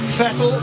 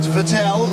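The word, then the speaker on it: Vettel: pronounce his name correctly it's fettle not vetel like the mineral water but can he out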